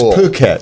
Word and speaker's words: Phuket: It's Phuket, Thailand. So be careful. They spell it wrong. They do spell it like that.